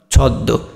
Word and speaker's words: ছদ্ম: তাহলে ছদ্ম, এখানে দ আছে, এখানে দ এর সাথে মটা আছে, যার কারণে দটা কয়বার হয়ে গেল, দুইবার হয়ে গেল।